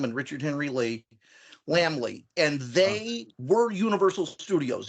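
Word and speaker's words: Laemmle: bizarre German name but it's pronounced lamb Lee like little lost lamb and Richard Henry Lee lamb Lee and they were Universal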